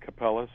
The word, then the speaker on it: Kapelos: or Capello's or whatever there are two different ways of pronouncing it so that's that's that's